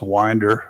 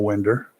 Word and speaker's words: Winder: And by the way, it's pronounced Winder, Georgia, not Winder.